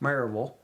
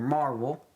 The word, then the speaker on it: Maryville: It's pronounced Maryville or Marvel.